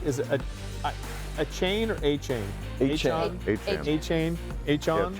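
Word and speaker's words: Achane: How do you say, is it a chain or a chain?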